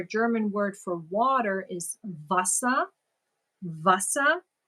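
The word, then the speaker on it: Wasser: word for water is Vasa Vasa even though it's spelled with a W the toughest for me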